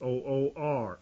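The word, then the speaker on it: עוּר: another word that strongs refers us to 5783 uwr or that's way it's pronounced o o r a prime root meaning to be be be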